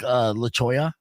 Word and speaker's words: La Cholla: pronounce these names properly, like La Cholla, you know. La Cholla. Yeah, I was saying Chola I lived on Chola for too long, saying Chola.